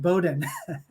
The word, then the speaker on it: Bowdoin: It's a really tricky one, but it's pronounced Bowdoin.